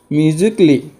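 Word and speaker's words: musically: এল ওয়াই থাকে তৃতীয় হলে a letter to silent থাকিবটা example দিয়ে বুঝ বা এক্সাম্পল হল মিউজিকলি মিউজিক লিসিকলি আরো লুজিকলি বুঝি পাইছো এয়ার মিউজিক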